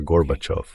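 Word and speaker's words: Горбачёв: Bush a pronunciar Gorbachov. Me dice, "Sí, sí, ya, garbage, garbage, ya sabes, Rusia. Tú enseñaste Rusia, ¿cómo se dice? Así que es fácil, señor vicepresidente. Diga basura. Basura. Ahora diga off.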